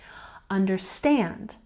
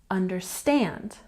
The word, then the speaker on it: understand: and next we have understand with the primary stress here and the secondary stress in the beginning understand understand and next we have